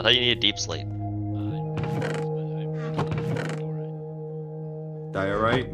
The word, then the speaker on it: diorite: Dorite. I thought you needed deep slate. Diorite, you mean? Diorite. Yeah, say it right.